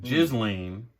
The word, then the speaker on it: Ghislaine: So, I've seen that it was actually a warehouse where Epstein and Ghislaine, because that's how you pronounce her name, Ghislaine Maxwell used to store people as like a halfway house.